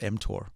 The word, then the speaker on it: mTOR: Yeah, you're pronouncing it correctly. It's called mTOR. Okay. M stands for mammalian, and TOR is target of rapamycin, a drug that extends lifespan.